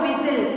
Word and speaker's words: whistle: She got up on hearing the loud whistle. W-H-I-S-T-L-E, whistle. How do we read this word? W-H-I-S-T-L-E, whistle. And the T is silent.